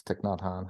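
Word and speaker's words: Thích Nhất Hạnh: for U as his name but if you're pronouncing it in Vietnamese it's tikn notan had visited Belfast and he had visited West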